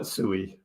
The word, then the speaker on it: Sui: main ones we're watching the founders of sui pronounce it s no one else gets it I I I won't be able to say sweet I just won't be able to do but I'll still call it sooie everybody knows what I'm